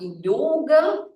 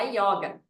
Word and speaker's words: yoga: falava yoga por qu porque o carioca tem esse sot com ó aberto tá gente e claro lá daquela época da década de 60 foi disseminado essa pronúncia né a yoga com o aberto tá então o yoga